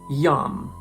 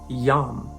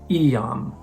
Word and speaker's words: iam: For example, yam. This is pronounced yam, not Iam.